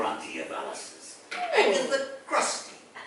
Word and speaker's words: Crusty: Oh, Agatha Crusty. It's pronounced Crusty. You know, kind of fancy, like the way you say Pilates.